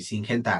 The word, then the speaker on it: Syngenta: Syngenta Agro, o sí creo que se pronuncia así, Syngenta Agro.